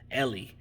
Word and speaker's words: Eli: tackle um well it's it's spelled eli but i heard that they that he pronounces it um ellie ellie anku ali aku